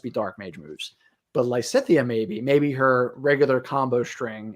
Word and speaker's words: Lysithea: to be in the game are Hubert and Lysithea. Did I say her name right? Yeah, Lysithea.